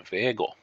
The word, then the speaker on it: Vega: to the commune of vega or viego as some of the locals say now vega is located in southernmost